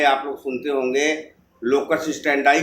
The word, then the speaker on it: standi: इसी को कहते हैं लोकस स्टैंडाई का नियम। लोकस, स्पेलिंग लिखिए LOCUS, लोकस। फिर दूसरा इसमें शब्द है स्टैंडाई। स्टैंडी है लेकिन उसका प्रोनाउंसिएशन स्टैंडाई ही पढ़ा जाता है, STANDI, लोकस स्टैंडाई। तो इस कठोर नियम को